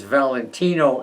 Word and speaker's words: Valentino: as i got older i went more to the italian pronunciation and i'm now known as valentino m and all